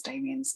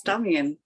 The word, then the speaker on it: Damian: Technically, it's Damian. It is, yeah. Damian is equally fine. I mean, 99% of people call me Damian, but my understanding is that the actual pronunciation is Damian, but Damian is completely fine.